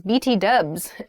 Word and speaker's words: BTW: next one is btw btw by the way by the way um young people will use bt dubs or uh yeah bt dubs instead of btw in conversation by the way is